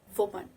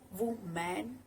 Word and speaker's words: woman: Woman. It's not woman, it's woman. It is the singular word used for females.